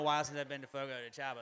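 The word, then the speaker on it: Fogo de Chão: since I've been to Fogo to Cha like whenever you know Fogo to shown is the correct pronunciation but it's F to Chow everybody else um but like when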